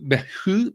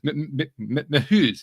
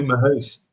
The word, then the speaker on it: Mehuys: the pronunciation right, Matthieu Mehuys. No, I did it again. I screwed it up. I'm sorry. It's Mehuys. Is that it? Yes, exactly. Matthieu Mehuys.